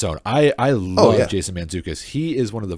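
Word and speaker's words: Mantzoukas: jacobs you got i don't know how to pronounce his last name but jason man mandzukic you got it jason mandzukic nice mandzukic he's hilarious he is worth the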